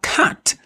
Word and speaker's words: cat: En anglais par exemple on dira cat. Donc le thé va se prononcer.